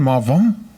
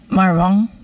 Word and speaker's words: Marvingt: And pronounce it again, Marvingt? Just like that? Marvingt? Yeah. Robin, you try it. That's it. Marvingt.